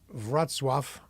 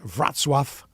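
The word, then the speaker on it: Wrocław: Poland this is the morning and it's leaving vatf which is spelled Rock laaw but it's called It's pronounced vatf like v r a t s swf and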